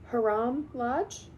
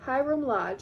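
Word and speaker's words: Hiram Lodge: Haram Lodge. Hyram. Hyram Lodge.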